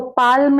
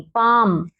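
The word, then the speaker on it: palm: पाम, इसको पाल्म नहीं, बाल्म नहीं, पाम, हथेली।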